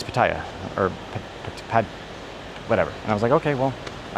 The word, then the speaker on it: Pattaya: asked so many people, is it Pattaya or Pattaya? Like even some of the locals say Pattaya and some of the locals say Pattaya. So if you're trying to correct me on how I say it, like the locals don't even call it one way or another.